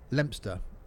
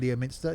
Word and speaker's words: Leominster: Leominster. You're probably right there, rather than Leominster. It's Leominster, yes.